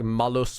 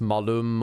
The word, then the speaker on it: Malum: I say it's like Malus when it's Malum, or Malum when it's Malus.